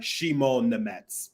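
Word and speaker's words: Šimon Nemec: It's Shimon Nemec. Like Shimon.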